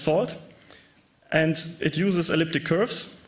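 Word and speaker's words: NaCl: It uses a networking and cryptography lip pronounced salt and it uses elliptic curves for the diffan key exchange 255 bit public keys.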